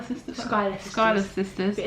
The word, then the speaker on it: Schuyler: It's really Schuyler sisters. Schuyler sisters. But it's spelled really weird.